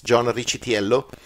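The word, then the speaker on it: John Riccitiello: wish Yello Rich yeah if you go with the Italian American pronunciation it's John chello and he's the CEO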